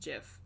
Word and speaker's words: GIF: like what it's like how the person who made gifts said that it's supposed to be pronounced jiff i don't care that the